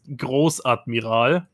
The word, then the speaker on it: Großadmiral: There's like a weird B, and then it says Admiral. Pronounced Großadmiral. And it's great. That's an S? That's a special type of S, yes.